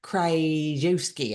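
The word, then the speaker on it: Krzyzewski: Coach K, most people call this, incredible winning basketball coach, Coach K, Krajewski, I think is how you say his last name.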